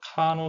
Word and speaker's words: Carnot: 그래서 원래는 영어식으로는 카노라고 합니다. 요 뒤에 T는 프랑스어의 뒤에 그 자음은 발음을 하지 않습니다. 그래서 이제 카노라고 읽고요. 또 여기 프랑스 발음에서 R은 발음을 해줘서 어떤 책은 카르노라고도 쓰고요. 영어식으로 읽으면 그냥 카노라고도 합니다.